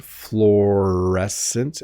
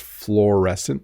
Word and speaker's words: fluorescent: basic non-scientific definition um but it's fluorescent again you really just make one vowel sound florescent at the beginning it's two letters uo but it's just fluorescent the same as you know my chair is on the floor and this is a